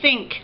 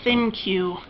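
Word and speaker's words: ThinQ: A LG G7 Think, although I keep calling it a Thin Q, because it's Think, but it's spelled Thin, and then a capital Q.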